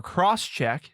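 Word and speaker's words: XCheck: called x check or cross check it's spelled x c h e c k so however you want to say that cross check or x the program included most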